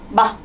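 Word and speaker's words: 吗: 여기서 한 글자는 성조가 어떻게 되죠? 성조가 없죠. 얘는 경성으로 발음해 주시면 되고 문장 끝에 마, 마만 붙이면 의문문이 돼요.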